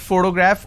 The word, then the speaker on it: photograph: so use the word photograph or picture so in this case this particular word has three syllables and i pronounce this as photograph which means i'm stressing on the first syllable but when i look